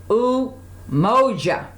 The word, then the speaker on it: Umoja: As I mentioned, the black candle, it represents the very first one, unity, and it's pronounced as Umoja. Umoja stands for unity. Umoja.